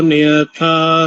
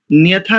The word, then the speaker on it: नयथा: और न्यथा नहीं, नयथा, नयथा।